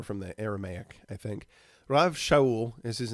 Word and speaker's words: Rav Shaul: been called Rabbi or Rav Shaul, right? Rav is like the Hebraic form of the word rabbi. It's how they would pronounce it. Rav Shaul.